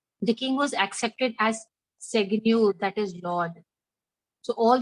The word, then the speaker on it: Seigneur: Seg, pronounce Ma'am. it. Seigneur.